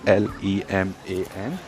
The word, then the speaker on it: Léman: Now, Lake Geneva is actually called Lac Léman, pronounced as LAC, for Lac is lake, Léman is pronounced as LEMAN.